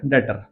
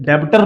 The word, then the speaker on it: debtor: बात करते हैं छठे वर्ड के ऊपर, डेटर, है ना, DEBTOR। ये डेब्टर नहीं पढ़ना है इसको, ये डेटर है, बी साइलेंट है यहाँ पर, डेटर पढ़ना है इसको, ये डेटर है आपका।